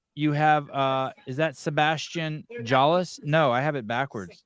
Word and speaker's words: Jallis: And lane 5, we have Sebastian Jallis. You do pronounce the J.